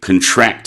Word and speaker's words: contract: It's different to the noun contract, or when we make a contract, but we pronounce that differently, and that's a different meaning altogether. When we say contract, it means to tighten, to make smaller.